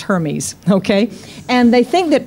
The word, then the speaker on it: Hermes: This is from mythology, and it's pronounced Hermes, okay?